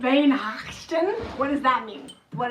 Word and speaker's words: Weihnachten: You would say that with a V. Drop your W and use a V sound. Weihnachten?